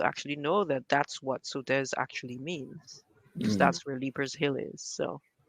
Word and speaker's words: Sauteurs: how Grenadians pronounce them because they're not at all pronounced the French way. So, there's all this history that we are unaware of that we should probably, like Leaper's Hill. So, I mean, sauteurs, right? We call it sauteurs.